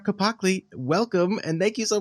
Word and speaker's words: Capacle: Capacle, welcome, and thank you so much for coming on.